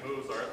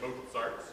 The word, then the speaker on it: Mozart: While we're talking about pronunciation, let's not say Mozart, let's say Mozart.